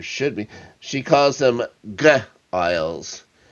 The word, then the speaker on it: Giles: She calls them Giles. Giles. With a hard G.